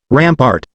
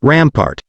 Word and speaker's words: rampart: But, rampart isn't pronounced, rampart, it's rampart.